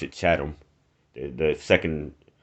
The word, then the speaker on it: Chatham: but you pronounce it chatham the the second t well the t and the h are pronounced separately so let's chat on